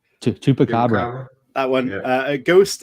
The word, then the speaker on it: Chupacabra: Go on, Chris, pronounce that for me. I always get it wrong. Chupacabra. Chupacabra.